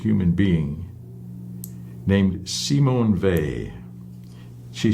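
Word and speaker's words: Weil: war and she didn't she was French she didn't pronounce her name the German Way so she pronounced it V and uh she talked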